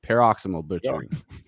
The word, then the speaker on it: Paroxysmal Butchering: got josh tim and billy from let me pronounce that let me try it don't tell me you got it pero peroximol butchering paraximal butchering i get it yeah you were right yeah